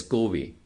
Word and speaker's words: GUI: graphical user interface, or GUI, which is usually pronounced as GUI.